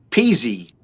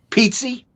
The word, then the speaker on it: Pizzi: my last name correctly peasy no pizzi yes in italian pizzi pizzi you're correct very